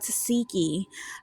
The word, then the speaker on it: Tesehki: y'all, welcome back to Mirror Reviews, and today we are talking about Tesehki. I finally pronounced her name right, yay!